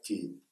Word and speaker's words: Цфъьень: Слово цфень сейчас и пишется, и читается просто как тень.